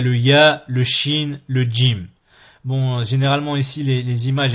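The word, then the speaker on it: جيم: le Jim Jim souvent il y en a qui le disent gym gym sans le D devant Jim et Najim bon les deux sont juste mais préférable de prononcer avec le dé le Jim Jim Jim Jim ensuite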